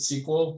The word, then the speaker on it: SQL: they pronounce this yeah i usually always called its sql in the first place but everybody pronounce it sequel so i don't know i think it becomes a tomato tomato thing but if this is